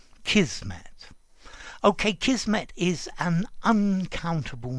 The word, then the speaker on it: kismet: because kismet is inevitable notice i'm pronouncing it kismet with a zed although i have heard um some people pronounce it with an s kismet but i think i